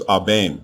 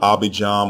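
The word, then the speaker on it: אבים: His name was Abaim, not Abijam or Abiyam.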